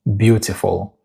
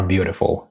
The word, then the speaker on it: beautiful: Native speakers say beautiful or beautiful if you're American or Canadian. Now the first part is stronger.